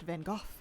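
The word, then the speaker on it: Van Gogh: In the UK, Van Go pronounced Van Go. Guess it makes sense. Kind of like the the gh in cough.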